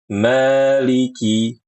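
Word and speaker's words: مالك: yaumidiniki yaumidinah ini salah jangan bacaiki iki tapi Maliki Maliki seperti itu berikutnya pada kata yaumiddin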